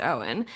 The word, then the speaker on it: Eoin: No, actually, but I knew, not personally, I knew of an actor whose first name was spelled the same way, Eoin, and that was pronounced Owen.